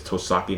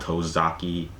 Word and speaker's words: Tosaki: It's Tosaki, not Tozaki.